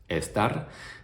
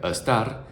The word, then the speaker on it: estar: The only thing that I would encourage you to look out for is the pronunciation of the Spanish letter E, because a common mistake that I see a lot of English speakers make is to pronounce this E sound as the schwa sound in English words like about, around, above, and they would pronounce it like estar, which might sound alright for